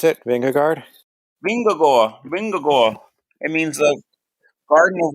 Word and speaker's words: Vingegaard: But, Jumbo Visma with Matt, say it, pronounce it, Vingegaard. Vingagor.